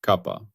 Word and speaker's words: kappa: The second dimension is space. Its symbol is the Greek letter kappa, pronounced kappa. I have previously used the simple letter K. That was an error. It is kappa.